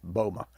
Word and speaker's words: Boma: I mispronounced his name there. It's Boma. It's his name, Bob Boma, and he didn't correct me, so that's pretty cool.